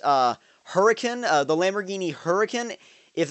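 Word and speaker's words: Huracán: announced now as far as I know it's pronounced uh hurricane uh the Lamborghini hurricane if that is uh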